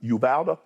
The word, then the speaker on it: Uvalde: I believe Golden State, and like you mentioned what transpired yesterday, I think you pronounce it Uvalde?